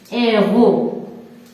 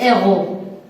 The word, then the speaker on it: héros: Le héros. Donc ici, H, c'est aspiré. On la prononce, c'est comme il est. Le héros. Pour le singulier. Pour le pluriel, on dit les héros.